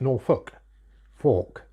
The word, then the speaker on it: Norfolk: as in folk Norfolk but everybody around here pronounces it Norfolk Fork so that's why I spelled it with an